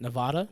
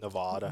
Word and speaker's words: Nevada: How do you say it? Nevada? Nevada. No, Nevada.